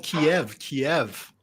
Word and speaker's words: Kyiv: Well, it's like over here in this country, we've called Kiev all these Now years. it's Now Kyiv.